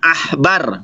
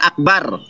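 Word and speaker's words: עכבר: Kalau ada titik di tengah, bacaannya tebal, akbar, ya. Tapi kalau tidak ada titik di sini, ini aja pakai ain, bukan pakai alef. Makanya artinya adalah tikus. Itu dibacanya bukan akbar, tapi ahbar.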